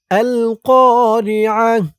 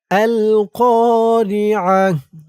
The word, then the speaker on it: القارعة: القارعة. القارعة.